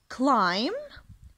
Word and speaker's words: climb: رح أقرأ عليكم إن شاء الله الأفعال climb climb climb يتسلق يتسلق climb يتسلق. حرف البي أحبابي silent letter يكتب ولا يلفظ climb climb.